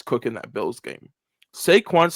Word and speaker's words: Saquon: Jaywan Barkley. I butchered his name, didn't I? Saquon.